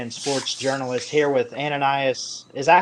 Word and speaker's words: Ananias: Anonyas.